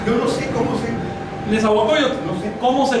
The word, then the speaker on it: Nezahualcóyotl: ¿Nezahualcóyotl? No sé. ¿Cómo se pronuncia? Se pronuncia así. Nezahualcóyotl.